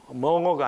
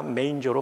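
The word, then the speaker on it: manger: 보니까 구유 구유 구유 영어로는 메인저 멍어가 아니라 메인저로 발음합니다 메인저 메인저의 뜻은 말이나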